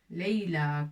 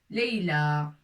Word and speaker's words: ليلى: ولكن إذا أردنا أن نكتب le prénom ليلى اسم ليلى سوف نكتبه بألف مقصورة. الألف ستكون مقصورة. داكوغ مقصورة يعني avec ياء في الأخير وسننطقها ليلى comme ça. ليلى. Leïla, comme ça.